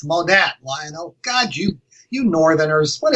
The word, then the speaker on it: Monat: Oh, God, you even got the name wrong. It's Monat, Lionel.